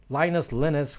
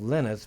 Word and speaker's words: Linus: I think he calls himself Linus, but we Americans like to refer to him as Linus. So because in America that name is pronounced Linus, Linus and Lucy.